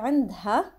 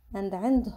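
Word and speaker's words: عندها: ando some people say randha and and hon but mainly in lebanon we pronounce it as anda and andon we don't really pronounce the ha it becomes anda and so anna andy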